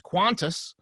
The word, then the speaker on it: Qantas: I'm going to pronounce this as Qantas. Well, incorrect. No, correct.